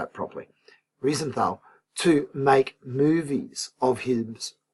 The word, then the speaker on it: Riefenstahl: called Leni Riefenstahl, I better say it properly, Riefenstahl, to make movies of his great rallies and so on.